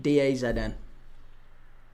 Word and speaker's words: DAZN: We're watching it on DAZN, mate, or DAZN, I think that's pronounced. DAZN.